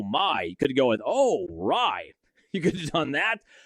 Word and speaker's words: Rai: One thing I love about him from a broadcasting perspective, I texted my buddies this this morning, Rai rhymes with so many things.